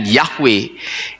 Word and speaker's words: Yahweh: yhwh itu dengan yahwe jadi yhwh bisa dibaca dan dibacanya adalah yahwe kita kembali ke Firman